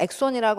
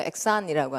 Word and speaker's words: Exxon: 발음을 엑손이라고 안 하고요. 엑산이라고 합니다. Exxon Oil Company 하면 이 얘기가 지금 오일 스필 얘기는 아니군요.